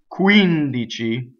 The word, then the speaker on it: quindici: So the word, next word is quindici, which has a stress on the antepenultimate syllable.